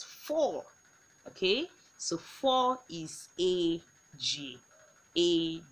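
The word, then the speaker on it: ejie: Four, and four is a g. You see, whenever we have e, we pronounce it as a g, a g.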